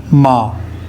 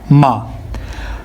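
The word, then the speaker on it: 妈: समझाता हूं आपको मा अब मैंने इसको प्रोनाउंस करना है फर्स्ट टोन में तो मैं कैसे प्रोना करूंगा मा मा मा मा अब इस वर्ड का मतलब क्या है अगर मैं फर्स्ट न में इसको प्रोनाउंस करूंगा तो इसका मतलब है मदर यानी अम्मी ठीक है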